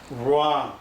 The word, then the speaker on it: wrong: 이렇게 long 하는 발음하고, WR에서는 이 W가 발음이 안 되고 R 발음이 이렇게 살아납니다. 그래서 wrong, 우자 입 모양을 하면서